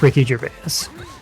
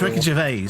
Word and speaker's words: Ricky Gervais: It's pronounced Ricky Gervais. Yeah, it's Ricky Gervais, all right?